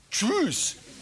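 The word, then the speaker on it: Kjus: Und Millionen von Sportreportern haben sich ja schon das Gebiss rauskatapultiert durch die korrekte Aussprache von Lasse Tschüss. Geschrieben K-J-U-S.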